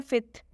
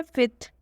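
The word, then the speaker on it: fifth: F silent होता है और फिफ्थ में ये जो बीच का एफ है वो साइलेंट होता है तो इसे हम पढ़ते हैं फिथ इसे हम पढ़ते हैं फिथ और इसे हम पढ़ते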